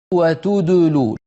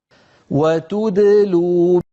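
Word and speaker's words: وتدلون: When pronouncing a second or a mushaddad letter between two letters with dhamma, don't keep your lips rounded on the second letter. Here, Sheikh Ayman gives an example of wrong pronunciation by keeping his lips rounded even when he is pronouncing the second letter. وتدلول. Now, this is the correct pronunciation of the same word.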